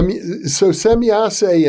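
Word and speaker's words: Semjase: because it suggests that and I understand you're pronouncing it correctly, or at least differently than I've ever heard, semyase. So semyase and these other aliens seem to know the future.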